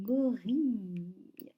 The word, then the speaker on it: gorille: Là, c'est le I qui s'écrit I, 2 L. E, comme dans fille. Donc voilà, gorille, comme dans grille aussi, que vous avez vu dans la lecture.